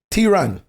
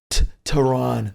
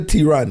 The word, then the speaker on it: Theron: My mother says Theron. And in St. Thomas, we don't pronounce the H's. You know what I'm saying? So it's not like Theron. The H ain't there.